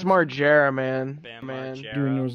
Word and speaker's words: Margera: Is that how I pronounce it? It's Margera, man.